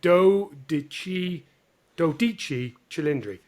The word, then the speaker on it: dodici cilindri: So actually, you've got to say it in Italian, and I got told off about how to pronounce it.